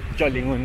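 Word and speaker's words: Chùa Linh Ứng: Chua Lin Un is how you pronounce it, right?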